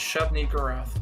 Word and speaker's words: Shub-Niggurath: It's Shub-Niggurath. Shub-Niggurath? Yes. Okay.